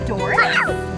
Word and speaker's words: Doris: It's gonna be Doris. Doris. Yeah. Does it rhyme with Norris? It does.